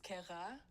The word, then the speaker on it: Cara: My name is Cara, but the way to actually pronounce it is Ka.